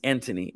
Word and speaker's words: Antony: anthony right he's british so his name is pronounced antony but it's spelled anthony and flew is either